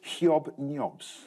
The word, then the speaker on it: Hobnobs: Or as the BBC has asked us to pronounce it, hyob-nyobs.